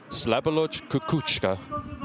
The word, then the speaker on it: Slavoljub Kokocinski: Slavoljub Kokocinski. That is how you pronounce the name.